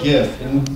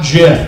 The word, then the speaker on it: GIF: just look at an animated gif not jiff damn it i know the creator said it's jiff i said no chips peanut butter sometimes you can crowdsource the pronunciation of something i think it's totally acceptable so i call it a gif yeah a gift with